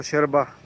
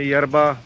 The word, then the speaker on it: yerba: तो माते एक यरबा, शेरबा बोलते हैं उसको, शेरबा, YERBA, यरबा। हम तो इंग्लिश में यरबा प्रोनाउंस करेंगे, लेकिन वो प्रोनाउंस करते हैं शेरबा।